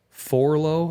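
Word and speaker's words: Forloh: And then there's Forlow.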